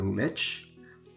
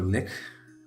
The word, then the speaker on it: lich: vacna is an undead he's a lich or lick depends on how you want to pronounce it that was once